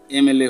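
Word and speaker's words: MLA: গুলি আলোচনা করব তো mister Das ইজ এন এমএল এ হবে ওকে তো এমএল এর আগে আমরা কি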